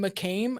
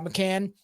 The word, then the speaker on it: McCann: you don't know in general like Madame Madeline McCain uh right that's her name McCain McCain uh McCann like you said that is just the surface